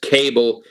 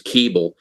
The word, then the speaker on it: Kaeble: And there's controversy as to how it's pronounced. She says Kaeble. Everybody in the Great War says Keeble, but it doesn't matter.